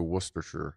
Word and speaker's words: Worcestershire: Wuss is correct. So Worcestershire. Okay. Worcestershire, I'll try to keep that filed in and delete Worcestershire. Worcestershire.